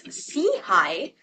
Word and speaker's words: SIHI: We are the social innovation and health initiative, CHI for short, pronounced as CHI, which means upward and forwardlooking.